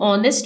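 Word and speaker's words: honest: his father is एन ऑनेस्ट businessman उसके वालिद एक ईमानदार ताजिर है ऑनेस्ट में एच साइलेंट है ओ को देखते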